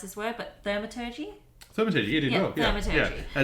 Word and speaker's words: thaumaturgy: that had the capabilities of I can never pronounce this word, but thaumaturgy.